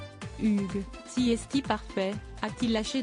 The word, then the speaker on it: Hugh: après plusieurs tentatives infructueuses ce dernier lui a finalement recommandé de le prononcer à la française Hugues si esthi parfait a-t-il